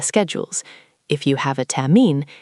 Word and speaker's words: Termin: Can you hear that R sound at the end, almost like a soft R sound? Termin.